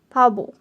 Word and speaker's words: 바보: So this thing here would be pronounced with a softer B at the start and a clearer B at the end. Pabo.